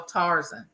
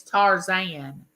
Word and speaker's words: Tarzan: mother-in-law loved the original tarzen and my and my daughter says Mama it's not tarzen it's Tarzan I said it might